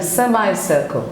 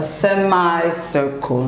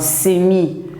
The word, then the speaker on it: semicircle: it would be a semicircle semi semi and circle a semi-circle not Simi but it's pronounced a semi which is half of a circle it's a semi-circle this